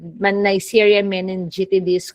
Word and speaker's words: Neisseria meningitidis: That's how you pronounce that. So Neisseria meningitidis, nabulol pa, okay, is a diplococci.